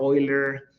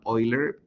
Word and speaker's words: Euler: So the only important thing for Oiler and by the way I'm pronouncing it kind of like with oil. Let me I should probably write it down. Oiler because this is a German name.